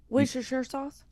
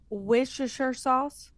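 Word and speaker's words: Worcestershire: It's worshere.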